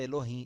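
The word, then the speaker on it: אלוהים: termo Helô Rema Vamos ler Elohim mas a pronúncia Elohim Elohim Lima Faremos agora uma breve recapitulação o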